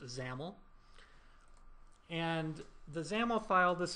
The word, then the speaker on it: XAML: created this this file this xaml file which is pronounced zaml and the zaml file